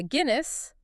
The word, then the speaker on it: Aguinis: to a study by Aguinis, Okay. pronounced like the beer, Like the beer?